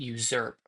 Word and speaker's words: usurp: I I played Olivia and it's if I do not usurp. Lauren says to pronounce the Z sound in user. Even though it's an English thing to do, but I just I'm trusting him at this point.